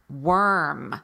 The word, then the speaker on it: worm: words like word work worm the one you're talking about worth wor in English most of the time is pronounced were now w AR write